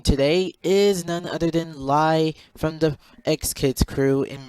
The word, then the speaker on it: Li: Well, my name is not Lai. It's actually. But, everybody has a jerk name, so I just cut it, so. But, anyways, yeah. But it's pronounced Lai.